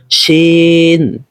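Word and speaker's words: س: করতেছি আপনারাও এরকমই করবেন অনেকে রয়েছে উচ্চারণ করেন আদৌ সঠিক নয় বরং সঠিক উচ্চারণ হলো সেন এই সিনটি হলো আপনার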